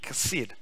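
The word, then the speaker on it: חסד: word for that there's a hebrew word called kased it's h-a-s-e-d kaseed it's pronounced and is a persistent and consistent refusal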